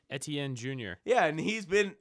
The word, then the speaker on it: Etienne: away Derek how do you say his name Etienne Etienne jr.